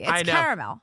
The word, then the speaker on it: caramel: People who say caramel, what's with you ignoring that second A. It's caramel. It is caramel, right? It's just It's how it's spelled.